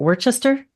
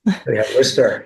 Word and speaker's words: Worcester: psychologist based in wor is it Worchester Massachusetts wer yeah wer okay I knew that there was a trick with that pronunciation thank you he obtained